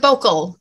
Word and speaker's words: Bokel: Oh, it's Bokel. Just Bokel. Yeah. Not Bokel or anything like that.